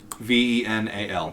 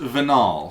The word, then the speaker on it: Vinal: Venal. No. Mm-hmm. Really? You named him Venal? The fuck is venal? Schnitzel. Means like vein. Oh! Well, it's pronounced Vinal, so if you want, we'll...